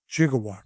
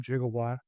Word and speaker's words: gigawatt: But if you look it up in that dictionary you will see that both the soft G and hard G pronunciations are correct.